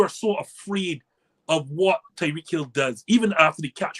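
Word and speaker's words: Tyreek Hill: right I need to put some respect on Tyree kills me because when that trade was initially made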